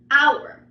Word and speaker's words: hour: Now we also have words that are not aspirated, right? That we just pronounce casually. Again, they are somewhat still heard, but for most of the time they're kind of silent, like in Spanish. So we have the word hour.